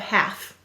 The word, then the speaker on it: half: a piece left half let's sound out half a silent l go ahead and write